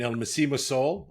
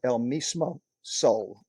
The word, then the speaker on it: El Mismo Sol: Jennifer Lopez, J Lo, in El Mismo Sol. Am I pronouncing it right?